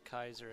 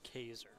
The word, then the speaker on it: Kaiser: territory skips name wrong it's not Kaiser its Kaiser it is my bad yeah